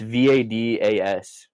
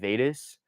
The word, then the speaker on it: Vadas: Like growing up, like it's Vadas, right? So looking at it, a lot of people said Vedas, and no, because to Rob, that's the funniest thing in the world.